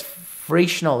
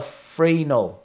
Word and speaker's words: Fresnel: it's Fresnel, is it? Or Fresnel? Is it Fresnel, is it? Fresnel is silent. The S is silent.